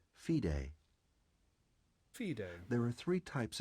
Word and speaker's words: FIDE: Internationally, ratings are governed by the Fédération Internationale des Échecs, Okay, which is abbreviated FIDE, pronounced FIDE.